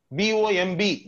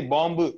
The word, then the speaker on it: bomb: B-O-M-B, we don't say bomb, we call it bomb.